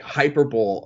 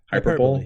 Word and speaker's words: hyperbole: speak in this like hyper bowl or hyperbole what is it how do you pronounce it i don't know hyperbole you got it hyperbole yeah you got it i knew it was i knew it was something something like that um and you know